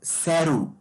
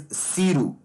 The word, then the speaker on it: SERU: Some people will call it as Saru, but I think the real pronunciation is Siru.